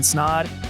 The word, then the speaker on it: Snod: Until next episode, my name is Snod. It rhymes with odd, and I'm out.